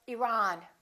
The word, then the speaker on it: Iran: next one did you say iran or iran it should be the second one he's from iran he's